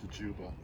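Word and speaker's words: Dziuba: case you were wondering what the last name Juba where it comes from is Polish actually originally spelled DZ iuba but pronounced Juba and in Polish this plant is called babov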